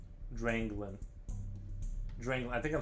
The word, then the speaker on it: Dranglin: Dranglin. Dranglin. I think I'm saying it right. Dranglin. I kept saying drag or Drago. Dragolin or something, and then I realized I was reading it wrong.